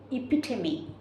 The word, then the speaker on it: epitome: Epitome. Epitome. But the spelling is different. E-P-I-T-O-M-E. But the pronunciation for this is epitome.